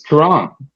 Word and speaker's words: Kieran: It's Quran. Kieran.